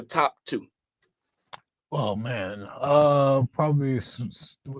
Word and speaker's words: Cerise: Oh man, probably Cerise. How you pronounce it? Series? No. It's CERI.